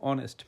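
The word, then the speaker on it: honest: ধরেন উদাহরণ বলতে পারি এন আপেল একটা আপেল এন অরেঞ্জ একটা কমলা এান এগ একটা ডিম এন আমব্রেলা একটা ছাতা এন অনেস্ট এইযে অনেস্টের কথা বুঝলাম একজন একটা সৎ অনেস্ট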